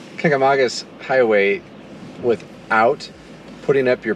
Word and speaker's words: Kancamagus: to the kanka ma jesus just say it kangamangas haha i said it wrong kagamagas highway without putting up your past so they